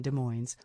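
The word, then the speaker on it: Des Moines: The Washington De Moines was pronounced with the s sound at the end, which gave most everybody not from there great difficulty when learning to say it so incorrectly.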